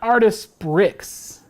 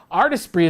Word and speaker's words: Artesprix: type artistry oh by the way it's not artist bricks all right i should have clarified that it's spelled a-r-t-art e-s-p-s-r-i-x so it's very fancy so if you look it up artist bree is spelled and i'm sure it's already been